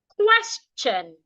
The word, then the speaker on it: question: cheap cheap match match question sometimes when we have letter s before t i o n t i o n will sound CH it sounds like CH the ti there will sound like CH question question so it's